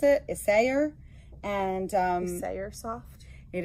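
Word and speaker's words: Isager: a g e r that is how you pronounce it isay and um isay soft it is called This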